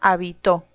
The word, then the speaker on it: habitó: Y en la tercera, habitó.